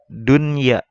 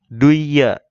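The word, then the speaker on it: دنيا: nun sukun bertemu iya, itu dibacanya dunya, bukan dengung, bukan didengungkan seperti gini. Dunya bukan, tetapi harus jelas dunya ataupun tidak disamarkan seperti hukum idgham. Duya ya. Jadi nun matinya disamarkan menjadi langsung ya tasdid ya. Duya ya, bukan seperti itu ya.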